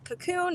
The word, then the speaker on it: Kakoon: And then my brand that I shared with you, Cocoon Eco, is Cocoon. It's spelled a little funky. It's KAKOON_Eco.